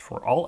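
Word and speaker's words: ∀: type of element here which is called a quantifier which is pronounced for all X another difference is that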